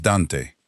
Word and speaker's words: Dante: Es Dante, dos sílabas y la primera tiene más peso.